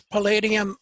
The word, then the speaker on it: Palladium: Palladium, is that how it's pronounced? It's Palladium Item.